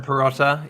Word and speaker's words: Pirotta: Persia Pirotta. Yeah, Pirata, that's yeah.